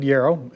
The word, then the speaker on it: Jaroch: My name is David Jaroch. It's pronounced like arrow.